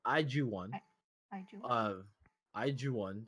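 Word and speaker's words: IZ*ONE: Iju1, that's how it's supposed to be pronounced. I'm just gonna say iZone.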